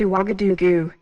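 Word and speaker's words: Ouagadougou: capital of burkina faso i hope i can pronounce this right it's uwagaduku right you are wagga dugu okay kigali is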